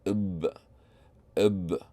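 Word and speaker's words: بْ: And the way to pronounce this is basically saying ib, without any short vowel.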